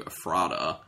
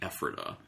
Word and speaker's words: Ephrata: for Poor Man's Brewing, which is out of Ephrata, Pennsylvania. Yes. There's a little behind-the-scenes joke going on where I mispronounced the name of the town initially to Ephrata.